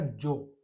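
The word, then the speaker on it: zoo: पूरा ही हो जाएगा जो, जो, जो बोलते हैं भाई चिड़ियाघर को, हमारे जू बोलते हैं, लिखते हैं इसी तरीके से है जेड डबल ओ, लेकिन यहाँ पर उच्चारण अलग है भाई, जो, जो बोलते हैं चिड़ियाघर को।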